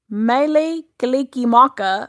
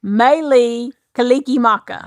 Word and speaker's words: Mele Kalikimaka: Mele Kalikimaka means Merry Christmas in what language? Mele Kalikimaka is the word. Close. Mele Kalikimaka.